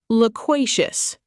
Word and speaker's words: loquacious: Loquacious, pronounced lo qua cious.